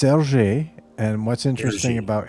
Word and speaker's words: Hergé: It looks like Hergé or something to me, Yeah, but how would you that's pronounce it interesting. correctly? It's it's Hergé, and what's interesting Hergé.